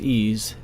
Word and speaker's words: EES: e which is pronounced ease is an acronym for Engineering Equation Solver the last video in